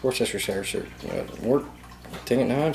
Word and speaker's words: Worcestershire: How do you pronounce Worcestershire sauce. Worcestershireton sauce. About a good. No, you're saying it wrong. It's Worcestershire.